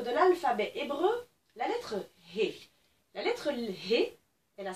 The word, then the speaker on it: He: En fait, la lettre He, le mot He au dictionnaire, signifie souffle et fenêtre. On l'entend d'ailleurs, He, c'est une lettre qui se prononce comme un souffle.